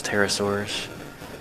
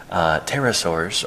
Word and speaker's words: pterosaur: And then let's take a look at those pterosaurs, and then I think we'll wrap up with our triceratops here, whom they're calling torosaurs, and that's okay. Pterosaur tracks. The P is silent.